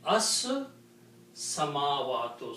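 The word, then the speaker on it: السماوات: lam, so you will not pronounce lam, you will say as samavatu. So when you say as samavatu, sin is being pronounced twice. So you have to put a shadda on the sin and pronounce as samavatu.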